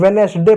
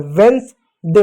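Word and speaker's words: Wednesday: इसको लोग वेडनेसडे पढ़ते हैं। वेडनेसडे नहीं होता है। वेंस डे होता है।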